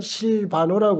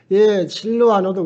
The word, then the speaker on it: 실루아노: 바울하고 사울이 그렇듯이 실루아노도 그래요. 실루아노는 로마식 이름이에요. 근데 로마식 발음, 로마는 라틴어인데 로마식 발음에서도 또 달라요. 가톨릭 신자들은 실바노라고 그러고 우리 또 로마식 발음한다는 라틴 발음한다는 우리 또 이 실루아노라고 이렇게 합니다.